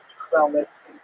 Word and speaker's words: Khmelnytsky: So this is just the way it's written in Polish, and if you understand Polish phonetics, you'll know that it's pronounced Khmelnytsky, which is also not